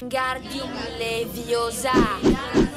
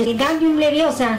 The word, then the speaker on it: Wingardium Leviosa: Wingardium Leviosa. No. No, fermo così, proprio bye bye occhi. Hai pronunciato male, io male si dice. Wingardium Leviosa, fai vermi mai di sasso.